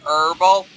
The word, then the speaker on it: herbal: it's herbal not herbal no you pronounce the h hey Seth hmm is